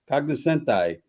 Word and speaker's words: cognoscenti: So you were part of the how do you pronounce this? Cognoscenti? Cognoscenti.